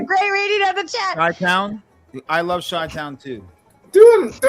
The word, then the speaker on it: Chi-Town: Do you know why I call Cheetown and not Chi-Town? I like your song. Because you butchered it the first time and you just stuck with it?